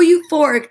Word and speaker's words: euphoric: these books aside okay e is for you eileen the u was so euphoric the wolves were eaten